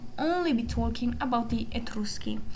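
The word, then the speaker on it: Etruschi: Uh we will only be talking about the etruski. I will be using the Italian pronunciation here.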